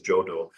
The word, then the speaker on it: Jadu: language of East Bengal Jadu is pronounced as jodo yes like biond I